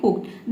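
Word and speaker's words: hooked: है हुक्ड हुक्ड हुक्ड इसको हम पढ़ेंगे हुक्ड देखिए यहां पे डी आया है ठीक है ईडी को हम ड पढ़ते हैं लेकिन इसको आपको क्या प्रोनाउंस करना है हुक्ड पढ़ना है ठीक है हुक्ड हुक्ड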